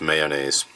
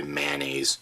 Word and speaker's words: mayonnaise: know it's got that nice tang I actually pronounced this mayonnaise and most people are like did you just say mayonnaise yeah most people say manis that just seems wrong like on a hike